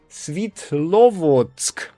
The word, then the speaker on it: Svitlovodsk: Svitiovodovsk. Svitlovodsk. That's the right pronunciation, I guess.